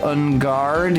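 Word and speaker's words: Engarde: Engard? Yeah, that is how it's supposed to be pronounced.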